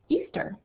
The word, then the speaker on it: Ishtar: the same right here called Easter that's how it's actually pronounced I could just guess